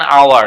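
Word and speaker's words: hour: যেমন হাউসের এইচ এর উচ্চারণটা তোমাকে করতে হচ্ছে, যার কারণে এখানে এইচ হবে, কিন্তু যখন আওয়ার বলবো তখন এইচ এর উচ্চারণটা এখানে সাইলেন্ট, ঠিক আছে।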